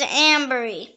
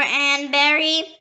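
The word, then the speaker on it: anbury: The next word is ambery. It can also pronounce ambery or anberry or amberry. It is spelled A-N-B-U-R-Y or A-M-B-U-R-Y.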